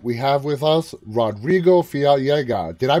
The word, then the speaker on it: Fiallega: live and tonight we have with us rodrigo fialga did i pronounce that right that's exactly how it's pronounced